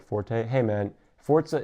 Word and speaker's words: Forza: like Forte hey man Forza is Italian for Force zebricks yes um and it is supposed to be pronounced Forza it is so I